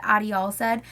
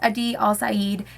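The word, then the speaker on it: Adi Alsaid: his name because I I always said Adi all said and it's a diol Sayid and now I know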